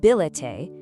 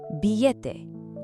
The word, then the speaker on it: billete: In authentic Spanish pronunciation, that double L makes a crisp Y sound. Actually, scratch that, it's not a hard L at all. It's not billete, it's billete.